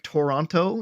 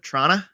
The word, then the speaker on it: Toronto: that's all it's like if someone be like toronto instead of trauna i would say how